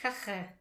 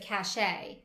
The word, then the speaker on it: cache: Like Cache. it's just really close to kacke, and that's something you should not make out of it. I think sometimes I hear English speakers pronounce it cachet.